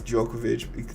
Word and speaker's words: Djokovic: i i think it's djokovic the d is silent um we are